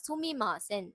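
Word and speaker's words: すみません: சுமிமாசன். சுமிமாசன். சு மீ மா சே இன். சுமிமாசன்.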